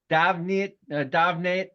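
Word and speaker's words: Damhnait: Kim Stockwood, basically singer-songwriter, Davnate. It's her name is spelled completely odd. Doyle. It's Damhait, but it's a DAV pronunciation, I believe.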